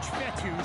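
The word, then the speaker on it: Fetu: be in complete so coach fetty spelled f-e-t-u for the longest time i was pronouncing it coach feda like feta cheese so let's just say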